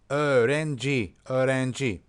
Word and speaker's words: Öğrenci: There's soft G, which is kind of not pronounced. Okay, so you kind of omit it. Öğrenci.